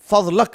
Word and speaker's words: فضلک: ایک صاحب ہیں جن کا نام ہے الفضل ابن العباس، جو علمی دنیا میں فضلک سے معروف ہیں. ہم بولتے ہیں نا بفضل اللہ، بفضلک، فضلک، اس تلفظ سے وہ معروف ہیں.